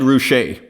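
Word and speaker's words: Ruscha: you chiming in there and so it's Ed roushay Ed ruche so we are slightly more sophisticated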